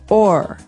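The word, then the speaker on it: o'er: in poetry okay so this is a way to make the word over shorter because over you can hear it two syllables over but sometimes we only want once we say or okay or the fields we go over okay interesting laughing all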